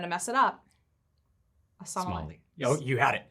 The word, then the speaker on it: sommelier: being, I'm going to mess it up, a sommelier. Oh, you had it. Sommelier? You had it. Yes. Sommelier. I own a restaurant, so I should really have that pronunciation down.